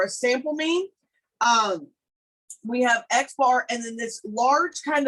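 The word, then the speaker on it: x̄: So here, when we talk about sample mean, we have an X with a bar over the top of it, and that is pronounced X bar.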